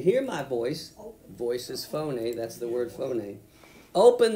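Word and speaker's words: φωνή: word uh uh voice in the Greek is phon everybody say phon and it's spelled with English letters as p h o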